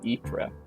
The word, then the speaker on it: Ypres: And it's pronounced Ypres, which is, I think, roughly what I said.